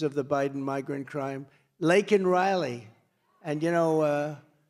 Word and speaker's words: Laken Riley: Laken Riley. And, you know, Biden was unable to pronounce her name, called her Lincoln Riley.